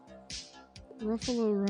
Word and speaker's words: Ruffalo: i like my buffalo ruffalo rhymes with buffalo it does that's all